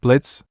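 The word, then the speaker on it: Blitzø: Wait, Blitz. Wasn't that the red thing earlier? Yang asked. The one whose name is spelled with an O, but kept silent.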